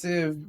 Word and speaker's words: They Sieve: And you might think it's they sieve like I did originally, but it's actually pronounced sieve because that's what you do when you're fucking hashing things.